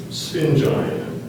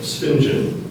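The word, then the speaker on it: sphingine: In his lecture, the art historian described the Mona Lisa's enigmatic look as spingine. Are there any alternate pronunciations? There's one, spingen.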